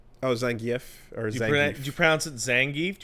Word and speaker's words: Zangief: How do you pronounce Zangief? Oh, Zangf or Zang. Do you Do you pronounce it Zangief? Do you pronounce it Zangf? Yeah, you said it. Zong gef.